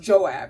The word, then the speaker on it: Joab: mindset of his name is i think it's pronounced joab it's j-o-a-b right but he's kind of like